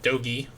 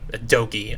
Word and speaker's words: Dogi: You're standing outside with Dogi. That's how you pronounce his name. Dogi.